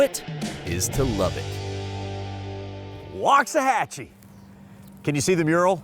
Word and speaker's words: Waxahachie: about 30 miles from downtown Dallas welcome to Waxahachie not Waxahachie the obvious way to pronounce it Waxahachie but walk doesn't mean well